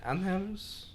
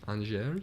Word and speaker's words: Angers: Anhers, is that how you pronounce it? Anhers? Angers.